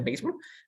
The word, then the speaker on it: béisbol: en inglés es baseball se escribe béisbol se pronuncia béisbol pero nosotros lo tenemos